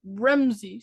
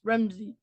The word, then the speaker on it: Ramsay: them it's re so they'll go like rimsy so rimsy then and it's Ramsay dude I love I love